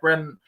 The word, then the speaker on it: Brenner: I have Brenner. Is that how I pronounce it? Yes, sir. Good.